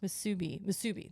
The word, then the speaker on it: Musubi: It's called musabi. Okay, musabi. It's basically sushi spam. It's kind of sushi. It's like a bit spam roll. This was delicious. Musubi. That's what it is.